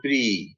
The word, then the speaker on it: Prix: Or IX, as in Prix, Grand Prix, that Grand Prix race.